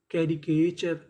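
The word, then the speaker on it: caricature: अगर बीच में आपको सी ए लिखा मिले तो उसे पढ़ते हैं के। टी यू आर ई। आपको पता है कि इसे पढ़ना है चर। तो मीनिंग क्या बनी? कैरीचर।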